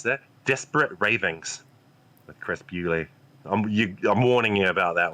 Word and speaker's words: Bewley: Bewley rhymes with Spewley, easy to remember.